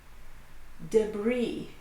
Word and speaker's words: debris: Debris.